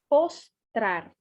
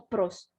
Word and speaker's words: postrar: Se escreve um pouquinho diferente para o espanhol. Postrar. Pos, não pros. Postrar.